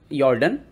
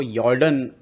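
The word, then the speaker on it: Jorden: यहां पर जॉर्डन और जर्डन एक्चुअली व जॉर्डन लिखा रहता है लेकिन उसको यॉर्डन सही प्रोनाउंस है क्योंकि जे को वाय पढ़ा जाता है बहुत सारे देशों में ओके नाइट सीव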